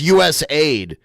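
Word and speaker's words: USAID: refused to give mus did he call it us a ID it's us Aid right he called it USA ID I mean the the the letters are colorized a certain way so that you say it correctly us Aid team access to classifi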